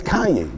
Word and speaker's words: Kanye: Kanye West producer JJ like it's Kanye, right? That's how you say it. It's not Kane. It's not Kane. It's Kanye.